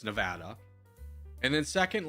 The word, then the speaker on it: Nevada: And first off, it's Nevada. I hate when people say Nevada. It's not. It's Nevada. And then second, like Nevada is what's called a